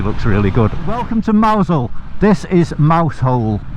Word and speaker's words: Mousehole: But it's pronounced Mousehole.